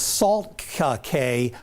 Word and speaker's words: Salt Cay: That is Salt Cay, or Key as some pronounce it, and that one is Little Sand Key.